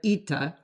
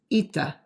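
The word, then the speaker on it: ήτα: And yes, this lowercase e sound, which is the letter ita, looks like our lowercase n. I'm sorry, I didn't invent the system, but the letter is ita.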